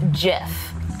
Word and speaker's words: GIF: By the way, the creator says it's pronounced Jif.